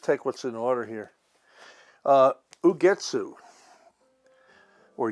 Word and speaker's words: Ugetsu: Ugetsu, or Ugetsu, I think it's pronounced Ugetsu, Japanese.